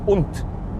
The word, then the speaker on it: und: evil person you say unt so the d is then pronounced more like a t sound in german no is that guy